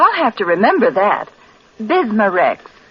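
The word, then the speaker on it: Bisma-Rex: have to remember that bismar Rex is that how you say it that's right ma'am b i s m a hyphen re X bismar ask for bismar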